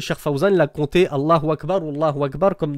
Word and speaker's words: Allah: Allah, il y a un mad, c'est-à-dire il y a une élongation, une prolongation, c'est pas Allah. Allah, ça n'existe pas, c'est Allah.